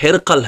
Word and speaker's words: ہرقل: اصل عام سادہ تلفظ ہرقل ہے، ہرقل، ہمارے ہاں ہرقل پڑھا جاتا ہے، تو ہرقل اب اردو پڑھیں گے تو ظاہر قاف بھی ساکن اور لام بھی ساکن۔ دوسری بات یہ ہے